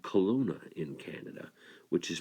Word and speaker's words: Kelowna: raised and still live in a place called Kelowna in Canada which is pronounced all right or k no loud a